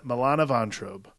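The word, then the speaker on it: Milana Vayntrub: butcher her name but uh moana ventr milan milana von trobe well done that's how you say it i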